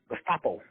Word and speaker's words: Gestapo: Gestapo, that's how you say it.